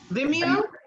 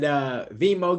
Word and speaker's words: Vimeo: Vimeo? Vimeo, yeah. That's how I thought you said it too. So when Little Boosie came on talking about and Vimo, get my stuff off your site, and I